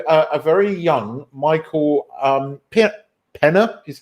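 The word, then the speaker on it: Peña: a cameo from a very young Michael Pitt Penna is how you say his name now you'll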